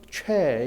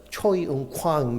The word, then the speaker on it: 최: 최 이런 발음들 미국에 가면은 저를 최은광이라고 안 하고 뭐라고 할까요? 초이은광 이렇게 부릅니다. 그 발음이 안 돼요.